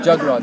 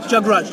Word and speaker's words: Jagraj: Jagraj. How do you say your name? Jagraj, like a jug and then the Raj. Jagraj.